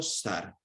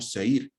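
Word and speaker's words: זֵר: capítulo 25:11, sin vocales, debería ser pronunciado sar, que significa extraño. Pero de acuerdo con la vocalización tradicional lo leemos como seir, que significa corona.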